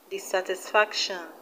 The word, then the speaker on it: dissatisfaction: that end in tion we have dissatisfaction dissatisfaction the stress is on fact fac we have hospitalization hospitalization